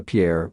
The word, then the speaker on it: Pierre: It's pronounced Pierre, we're not French, and stop wasting my time."